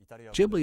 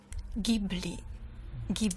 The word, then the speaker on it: Ghibli: GHI is pronounced gi in Italian. Of course, in Japanese, it's quite clear. The only way to pronounce the spelling is Ghibli. But the original Italian is really pronounced Ghibli. You know, Ghibli doesn't work somehow.